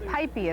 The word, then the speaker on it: Pipey: Pipey is how you pronounce it.